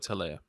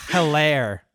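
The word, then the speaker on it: Helaire: name is clyde edward taleah right right um c-e-h yeah c-e-h you know the h is silent by the way yeah some people have i've heard people saying heller hello and yeah there's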